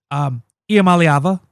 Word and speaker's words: Iamaleava: and then you hear the stories that Nico Iamaleava, that's how you pronounce it, especially fast.